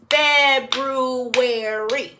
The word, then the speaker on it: February: do it again ready February take your time brw that's that's right Brew February it's actually pronounced exactly the way it's spelled so let's take a